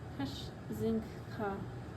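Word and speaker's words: księżniczka: It's pronounced Kashzinka, with a nasal N like a French.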